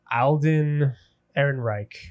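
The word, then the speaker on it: Alden Ehrenreich: How do you pronounce his name? Is it Alden? Uh Alden Eron Reich.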